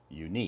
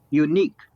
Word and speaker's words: unique: unique now know yeah so the emphasis is on the second syllable unique yes yeah stress at the second Sy yeah unique yeah unique means something